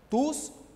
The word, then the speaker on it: tous: les spectateurs sont venus tous veulent assister aux conseillers quel constat faites-vous haut niveau tous dans la prononciation ici on a prononcé le s de tous et tous remplaça le